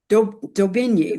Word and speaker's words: Daubigny: Daubigny, right? Daubigny, yeah. Daubigny.